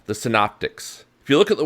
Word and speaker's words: synoptic: gospels are called the synoptics if you look at the word synoptic and break it down you got the first syllable sin s-y-n now it sounds like sin as in doing something wrong but completely unrelated sin